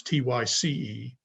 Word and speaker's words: Theiss: Tice, it's spelled Theiss, but here it's Tyce.